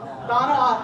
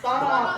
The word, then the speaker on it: Tohono: Thaw. Na. Aw. Thumb. Thaw. Na. Thumb. Thaw. Na. Thumb. Thaw. Na. Thumb. Got it? Tohono. So put it all together. Tohono.